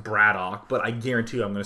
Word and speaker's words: Brat_OK: on so QX or um excuse me uh Brad okay or I believe his name is actually pronounced bradoock but I guarantee I'm going screw this up